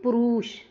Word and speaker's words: पुरुष: पुरुष पुरुष नहीं बोलते हम। यह बड़ा ऊ है। हम बोलते हैं पुरुष। यह छोटा ऊ है। तो यह वाला ठीक है। यह वाला गलत है।